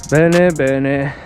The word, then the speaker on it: Bene: Bene, rhymes with Lenny.